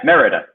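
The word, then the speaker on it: Mérida: oh really okay so so I was saying it wrong it's Marita yeah meridah meridah meridah meridah jockey there you go there we go Merida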